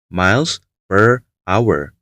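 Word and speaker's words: Miles Prower: Bacanya Miles per Hour, sebuah pun dalam bahasa Inggris.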